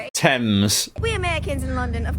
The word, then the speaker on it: Thames: It's Thames, right? Tems.